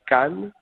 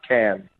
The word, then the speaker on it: Cannes: And Nicole, before you go, it's pronounced Cannes, not can.